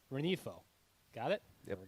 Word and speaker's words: Rengifo: There's no the G is silent. The G is silent? Luis Rengifo.